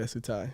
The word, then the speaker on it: Tsutai: Yeah, Tsutai. Tsutai.